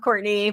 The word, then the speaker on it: Courtenay: It is pronounced Courtney, but it's spelled like Courtenay.